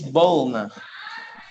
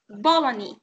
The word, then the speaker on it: bologna: second one yeah and the second thing is bolna know the correct pronunciation is Bologna Bologna Bologna Bologna Bologna mr.